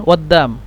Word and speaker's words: قدام: قاف دال ألف ميم عند الكتابة، لكن هم ينطقون قدام.